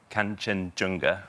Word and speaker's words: Kanchenjunga: Kanchenjunga. Yes, exactly. Perfectly pronounced.